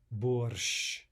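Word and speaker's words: борщ: Finally, sh, right? The double length consonant. Borsh, borsh. And viesh, viesh. No difference in pronunciation despite the presence of the soft sign.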